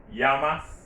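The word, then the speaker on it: llamas: remember you see that this word is pronounced yamas this one yama why because in spanish when two l's come together it is pronounced like hawaii in english all right so you ask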